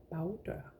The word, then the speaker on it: bagdør: that would be bagdør, because we have this bag that changes its vowel or the pronunciation of the vowel when it is put together with another word. Bag, bag, bagdør.